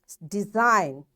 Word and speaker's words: design: G design. G is silent.